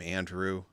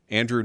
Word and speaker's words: Andrew: Andrew, not Andre.